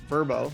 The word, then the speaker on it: VRBO: sites like airbnb and vrbo or pronounced verbo you need a channel manager